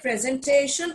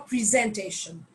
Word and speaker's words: presentation: pronunciation for this is either you can say presentation or presentation both are correct presentation is uh more u.s and presentation is more uk so you can say